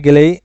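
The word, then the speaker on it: go: এটা হচ্ছে ঔ সাউন্ড।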